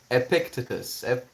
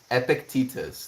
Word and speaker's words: Epictetus: stoic quote one of epic epicticus epictetus there we go that's the right way to say it i believe epictetus said that